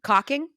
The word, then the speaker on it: caulking: your show I mean the L is silent the L is silent